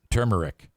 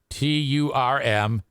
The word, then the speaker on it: turmeric: Aram, when it comes to pronouncing that ingredient, turmeric, he writes TURM-Eric. So I said, well, is it turmeric or turmeric? The second thing he wrote was just the word again. Then he wrote turn-eric.